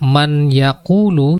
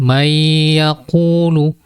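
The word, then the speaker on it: من يقول: mayakulu Mei akunu demikian Jadi tidak boleh membawa membaca Man yaquulu tetapi mayakulu dan pada huruf nah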